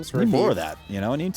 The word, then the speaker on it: Revere: Revere.